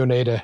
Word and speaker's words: Oneida: Nick from, I'm pretty sure it's pronounced Oneida Effects. Nick Wonder from Oneida Effects. Wonder. No, it's definitely Oneida.